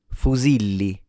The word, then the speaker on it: fusilli: And we're looking at the correct pronunciation of the word fuzili. Fuzili fu z fuzili. Now for the non-natives, notice that the stress is on the second syllable.